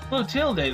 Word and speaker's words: Clotilde: Clotilde, that's how you say her name, Yes, I'll be stepping out for a while.